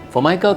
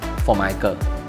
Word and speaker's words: Formica: For those that are not sure, it's actually not pronounced as Formica, nor is it called Omika, but in fact, it's pronounced as Formica.